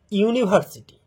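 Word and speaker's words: university: এ ইউনিভার্সিটি, ইউনিভার্সিটি যদি কথাটাকে আমরা ভাঙি, ইউ নি ভার সি টি, দেখো প্রথম উচ্চারণটা আসছে ইউর মতো, প্রথম উচ্চারণটা আসছে ইউ এর মতো।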